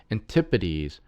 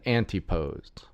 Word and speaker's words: Antipodes: around the Mediterranean Basin it's actually said Antipodes rather than anti posed sorry about that to all you that live down in Australia New Zealand Antipodes thanks to Andrew and